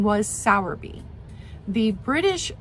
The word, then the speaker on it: Sowerby: were saying it like they dropped the r entirely so sour B Auer B but we're gonna go with sour B because that is the uh American pronunciation so there's a record